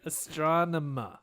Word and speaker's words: Astronema: We're gonna be here till you say her name right. Astronema. Say astronomy. Astronomy. Astronema. Yeah.